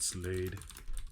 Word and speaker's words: Slade: know producer produced yeah director David Slade rhymes with blade uh but uh wow